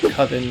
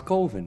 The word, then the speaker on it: coven: be at times it's colvin man what else could it be pronounced uh kevin that's the proper pronunciation no no no no no no no no no no coven sounds like oven man and that's just